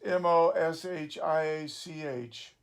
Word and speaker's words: משיח: Now that word is literally anointed, but it's a translation of Moshiach, Mem, Shin, Yod, Hey. Ashkenazic Hebrew pronounced Moshiach.